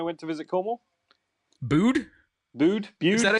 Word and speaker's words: Bude: I have got a beer I found in my fridge, which is from Bude when I went to visit Cornwall. Bude? Bude?